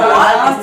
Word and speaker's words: walked: Sarah walked yesterday. আচ্ছা, work না, এল এর প্রোনাউন্সিয়েশনটা কিন্তু হবে না, এলটা অমিট, ওয়ার্কড।